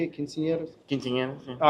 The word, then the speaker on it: quinceañeras: Quinceañeras, yeah.